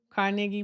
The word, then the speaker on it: Carnegie: libraries built by Andrew Carnegie um or really really the proper way to say it is Carnegi who built all these libraries across the US and she was taking pictures of them.